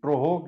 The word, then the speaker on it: TROHC: अब case control को कहीं कहीं ऐसे लिखा गया है, इसका उल्टा इधर से जैसे लिखिए, इसको बोलते हैं TROHC, ट्रोहोक इसको बोला जाता है। तो ट्रोहोक is case control study, case control, क्योंकि दोनों एक दूसरे का अपोजिट है।